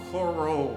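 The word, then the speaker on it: Chorrol: I think Coral is one of the cities, Coral or something, but apparently you pronounce it as Coral.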